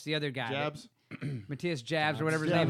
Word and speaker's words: Matthias Jabs: Is it Matthias Hobbs? Oh, You know what I'm talking about? Yeah, yeah. Matthias Jabs you're it's not talking the Schinker guy. It's the other guy. Jabs. Matthias Jabs or whatever his Jabs name is.